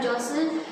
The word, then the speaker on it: jostle: Now jostle means here jostle, T is silent, you will not pronounce T, you will pronounce it as jostle.